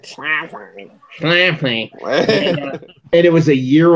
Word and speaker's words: Schlafly: Schlafly.